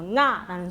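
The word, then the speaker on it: ང: 지금 여기 보면 한국말로 응아라고 표기를 해놨는데 사실은 응이라는 발음은 나지가 않습니다. 근데 요 밑에 이응이 두 개가 오면서 나는 발음 있죠.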